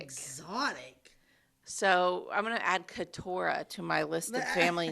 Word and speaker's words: Keturah: His wife's name is Keturah. Keturah. Like spelled like Deborah, but with a K and a T instead of a D and a B. So it's I like Ketorah.